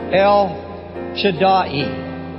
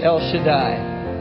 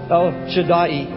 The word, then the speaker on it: El Shaddai: The actual pronunciation in Hebrew is El Shaddai. In our modern language, it's El Shaddai. But the proper pronunciation is El Shaddai.